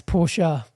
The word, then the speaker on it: Porsche: a p p r Porsche porsa yeah it's porsa porsa I say Porsche still I say Porsche I